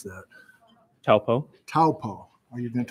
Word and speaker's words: Taupo: How do you pronounce that? Taupo.